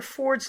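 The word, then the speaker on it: Fforde: Jasper Ford's last name, he's Welsh, so it's spelled double F. F-F-O-R-D-E. So not Ford Automobile, but F-F-O-R-D-E.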